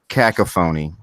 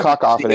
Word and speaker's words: cacophony: I think what you meant to say was cacophony. That's probably it. Oh, As a you cacophony. see, I just woke up a little while ago. I think you've got the emphasis on the wrong syllable there.